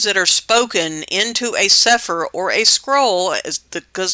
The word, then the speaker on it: Sefer: It's spelled sic per here in Yehudith and we call it suffer. That's how you would spell it in English to know how to pronounce it.